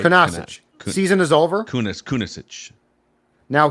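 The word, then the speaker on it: Kunaszyk: And I don't have the pronunciation guide. He's been placed on IR. Kunaszczyk, right? Kunaszczyk.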